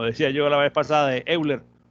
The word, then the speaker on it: Euler: yo la vez pasada euler según parece ser la pronunciación correcta es hoy leer bueno qué pasó aquí